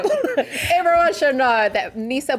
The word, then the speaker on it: Bula: So we'll just start with the word Bula for today, which is, no, it's not Bula, but Bula.